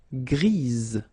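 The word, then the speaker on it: grise: Don't pronounce the s but then for the feminine form grease.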